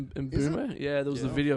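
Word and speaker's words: Mbeumo: I I like and Bumo apparently is how you say it. Bumo. Bumo. Yeah, there was a video of him saying, "My name is Brian Bulmo."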